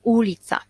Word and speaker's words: ulica: komputera bo komputer komputer na ulicy akcent pana i a nie na przykład witam ulica tak i woda akcent pana